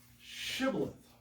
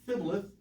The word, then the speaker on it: shibboleth: their dialect and ephraimites could not say sibling shibboleth they could not make that correct sound and he said sibling where he could not frame to pronounce it right so they said fibtleth instead of sibilith shibboleth so it couldn't get